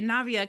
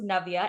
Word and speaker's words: Navia: your name correctly and my name is actually pronounced Novia and I say Navia all the time just because I grew up in like the United States right it's it's Navia